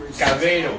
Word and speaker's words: Cabero: Cabero. Cabero. Cabero. Just want to make sure I pronounce it right. Cabero. Ah, Cabero. Eccola. Perfect.